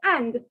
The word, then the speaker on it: est: that you can see is pronounced as a it is not s okay it is not